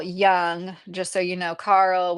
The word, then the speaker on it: Jung: You spelled it right. Except it's is instead of a Y, it's a J. It's a funny word. So it's like looks like Jung Yin, but yes, it's written by Robert A. Johnson, but he's definitely using Yian psychology. And his name was Carl Young.